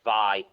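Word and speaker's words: Wai: w a i why why but but it's pronounced V there you go it's pronounced V but it's w a i from going from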